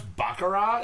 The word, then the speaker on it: baccarat: Is that how you pronounce baccarat? It's baccarat. Baccarat. Oh, I always called it baccarat, like Burt Baccarat.